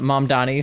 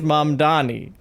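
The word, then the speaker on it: Mamdani: It's um I can't think of the name of the song, but they took uh Mom Donnie spelling his name. Yeah, the name is Mom Donnie.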